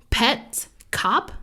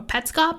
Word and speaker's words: Petscop: there's another one called pet cop or petscop i'm not really sure you say it it's called it's spelled p-e-t-s-c-o-p so like pets and then like a cop anyway or pet scop yes how could i not